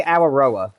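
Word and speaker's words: Aotearoa: Say Auroroa is the actual way you say it. A roa. It's very very tongue tying. Um so I just call it Aurora because it's easier.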